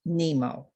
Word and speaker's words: Nimo: channel which was a source named nimo pronounced nemo it is a cone